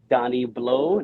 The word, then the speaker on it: Donny Blot: at IG on at donnyblow that's d-o-n-n-y-b-l-o-t the t is silent and my next prop